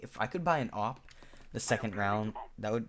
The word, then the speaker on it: AWP: Maybe if I could buy an op the second round, that would be awesome. That'd be pretty OP. See what I did there, but op is spelled AWP.